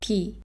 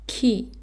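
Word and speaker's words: 키: So this is ki, not ki, but ki, okay?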